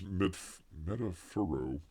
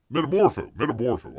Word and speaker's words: Metamorpho: Anthony Kerrigan is Metafuro. How do you say it? Metamorpho.